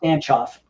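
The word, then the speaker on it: Stancioff: It's like Bulgarian.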